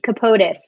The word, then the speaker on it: Capotis: How do I pronounce my last name? Capotis. Capotis.